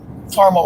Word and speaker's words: caramel: Um, it's driving Leslie crazy that I spelled caramel wrong. Well, some people say caramel and some people say caramel. So, if it's caramel, it would be c a r a m- e l.